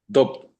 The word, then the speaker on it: doubt: Doubt. We say doubt. Doubt. Doubt. Exactly. Yeah. The V is silent.